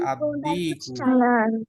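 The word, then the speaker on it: الديك: আসে তাহলে উচ্চারণ হবে আদ্দি রোস্টার এখানে কি লামটা উচ্চারণ হয়েছে নাকি হয়নি হয় নাই লাম কি লেখার মধ্যে দেখা যাচ্ছে লেখায় আছে লেখা আছে হ্যাঁ তার মানে লেখায় থাকবে উচ্চারণ হবে না প্রোনাউন্স হবে না প্রোনাউন্স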